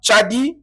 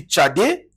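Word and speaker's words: צדי: Dis seulement tchadi, celui qui dit tchadi, il a bien prononcé. Celui qui dit tchadé, il a bien prononcé. Celui qui dit tchadik, il a bien prononcé.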